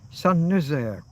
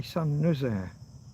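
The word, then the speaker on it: Saint-Nazaire: San is spelled like saint. You just don't... The French, when they pronounce words, they slack off at the end.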